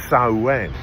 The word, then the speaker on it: Samhain: It's actually a Celtic festival, mostly Irish and Scottish, called, and I think I'm pronouncing this right, Samhain.